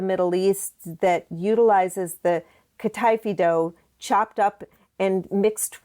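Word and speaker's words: kataifi: the pastry part right, which I'm going to mispronounce, but it was kafi.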